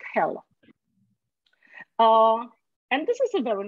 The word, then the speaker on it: Hel: Hell means light, right? So. Yes, but it's one L, but it pronounces hell.